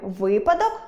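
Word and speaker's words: випадок: Тому у слові ви́падок - наголос на першому складі, а у слові вантажі́вка — на третьому.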